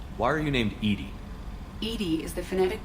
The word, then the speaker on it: EDI: airlock is ajar why are you named Edie Edie is the phonetic pronunciation of 18i that is an acronym for